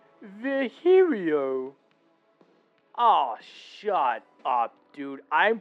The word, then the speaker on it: Virgilio: now we meet again bartender you look winded virgilio oh God not you again it's pronounced V herio oh shut up dude I'm pronouncing your name